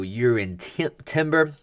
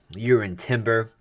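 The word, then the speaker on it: Jurriën Timber: Declan rice and also you're in Timber that's how you pronounce his name with the Y in front and stuff with J you're in Timber I'll go into that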